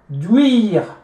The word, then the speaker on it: huile: H is silent, right? So you see that this is followed by a vowel, right? And then there is a vowel, two vowels meet. You drop the first one, you put your apostrophe.